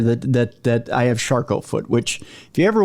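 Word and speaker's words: Charcot: that that i have charcoal foot which if you ever want nightmare fuel for yourself one night look up charcoal foot it's spelled c-h-a-r-c-o-t it's very french and very very gruesome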